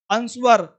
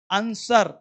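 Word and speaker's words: answer: वो लोग पढ़ लेगा बरैप बरोंग अंशुअर स्वर्ड ऐसे नहीं डब्ल्यू rap wrong आंसर sold तो पढ़ना क्या है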